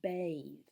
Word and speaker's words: bathe: to what review is bathe bathe looks almost like the word bath except it has an e on the end and that makes the